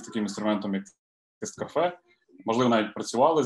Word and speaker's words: TestCafe: є, це французька літера тест-кафе. Її потрібно говорити, наголос ставити на останню літеру, це кафе.